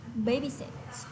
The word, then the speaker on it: babysit: Các bạn nhìn thấy của cô ở đây có một âm y, thì âm y này là âm y rất ngắn, vậy nên chúng ta sẽ phát âm ngắn thôi nhé. Babysit.